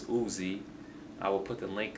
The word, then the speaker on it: Uz: this on U translation Oz guy said it was uh pronounced as Uzi I will put the